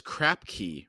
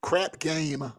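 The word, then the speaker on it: Crapgame: always thought it was crap key for some reason how do you spell It crap game like playing craps like you're throwing dice oh crap game okay I always thought it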